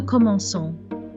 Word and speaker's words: commençons: To remedy this, French adds a little S under the C to remind us to pronounce the hard K as a soft S. In French, we have now nous commençons.